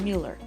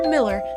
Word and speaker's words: Mueller: each other that's right we're talking about Mueller or Miller depending on where you're from is how you pronounce it but is it